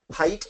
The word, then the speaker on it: height: regardless of the pronunciation height and weight are pronounced differently but they're spelled the same because they mean similar things even though they're pronounced differently words he she they